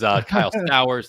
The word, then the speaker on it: Kyle Stowers: little bit earlier that rhymes with Colton Cowser, kind of, is Kyle Stowers. It doesn't really rhyme now that I say it out loud, but it's fine. It's got the same vowel sound.